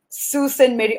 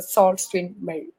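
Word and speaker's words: Sault Ste. Marie: to call it so we call it as a Susan Mary Ontario rather we have to call it as a salt screen male so this campus when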